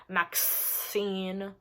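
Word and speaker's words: MaXXXine: Max X scene are we how are we pronouncing it maxaxine Maxine Maxine Maxine okay I like to Maxine an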